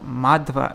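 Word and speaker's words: Madhva: hey remember when I was talking about madhub having a long a at the beginning when you're referring to but when you're saying um like madwa like when you're saying something under madhavacharya then it becomes madwa so I was right I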